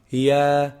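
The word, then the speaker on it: ياء: Ya is pronounced from the middle part of the tongue and the roof of the mouth. And the roof of the mouth. Ya, ya.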